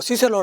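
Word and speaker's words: Cicero: 그 다음에 로마 특히 키케로 뭐 시세로 라고 발음 하기도 하죠 이런분들 그 다음에 우리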